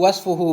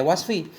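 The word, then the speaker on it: وَصْفُ: Jadi sesudah haitsu bacanya wasfu, nggak boleh wasfi.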